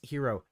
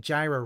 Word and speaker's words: gyro: hero Phil you know it's supposed to be pronounced hero call it hero you calling it Gyra really shows you're a